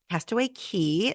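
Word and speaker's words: Castaway Cay: day at Castaway K Castaway Key sorry I always say that wrong because it's spelled c a y but it's pronounced key because you're in the Bahamas Castaway key and then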